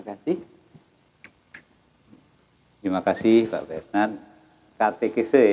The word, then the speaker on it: katekese: Katekese ya Pak, bukan katakese.